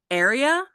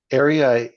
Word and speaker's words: Aria: Is it Aria? No. Yeah. area. So that's um it's a male and so area sorry my I'm